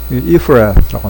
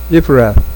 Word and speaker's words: Ephrath: 우리 그 개혁 성경에 Ephrath라고 합니다. 이 F 발음 요거 있잖아요. 참고하시고 if 그 다음에 Ephrath 이렇게 발음하시면 되는데 또는 Ephrath 라로 이렇게 해도 Ephrath TH가 뭐 씌었다는 것이 애매하지 그죠?